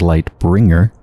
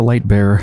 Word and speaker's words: Light Bearer: last episode we finished the light Light Bearer DLC which I keep mispronouncing as light bringer so just finish the Light Bearer DLC and now we're